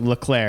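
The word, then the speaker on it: Leclerc: french canadian he's like say it i'm like leclaire he's like spell it i'm like l-e-c-l-e-r-c he's like there was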